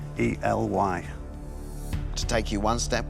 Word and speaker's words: Ely: 17 000 pounds I don't know if I'm pronouncing it right but Eli e l y to take you one step closer to a